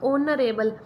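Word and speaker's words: honourable: जदों इनू आपां प्रोनाउंस करांगे, जदों आपां बोलांगे तो एच साइलेंट हो जाऊगा, इनू हिंदी च लिखिया जाऊगा ऑनरेबल। ठीक है, ओखली वाला ओ लिखिया जाऊगा इहदे नाल।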